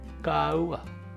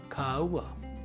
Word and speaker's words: kāua: This first week of the month, we'll be considering a stress mark over the first vowel, A. This is the kākou, or makron. It's pronounced this way, Kāua, Kāua.